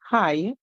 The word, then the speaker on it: high: is silent so hence in the word high you only hear the I so an i i